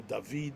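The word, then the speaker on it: דוד: Hebrew dod, As in Dodi Lee. Dodi Lee, right? Dod, Yeah. Dodi Lee. It's spelled the same way, Dalid Vav Dalid, and you can pronounce it as Dod or David, etc.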